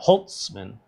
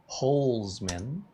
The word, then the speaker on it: Holzman: No T in my name. CareyHolzman, not Holtzman. Holzman.